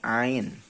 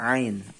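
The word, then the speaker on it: عين: fathah namanya ini namanya Ain Ain ya pelafalannya makhorijul hurufnya diambil dari tenggorokan boleh nyoba ditarik cara bacanya di apa namanya ditekan Di dalam tenggorokan ya Ini namanya a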